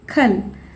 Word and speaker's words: कल: ஏன்னா ஒரு வேர்டோட எண்டிங்கில் வர கான்சனண்ட்டை எப்பயுமே நம்ம ஹாஃப் கான்சனண்ட்டாக தான் ப்ரொனவுன்ஸ் பண்ணணும். அதாவது இப்போ கான் இருக்கிறத இக்குன்னு பாதியாக தான் ப்ரொனவுன்ஸ் பண்ணணும். அதே மாதிரி இந்த வேர்டில் ல இருக்கா எண்டிங்கில், ஆனால் அதை நம்ம இல்லைன்னு தான் ப்ரொனவுன்ஸ் பண்ணணும். இது ஏக், இது கல்.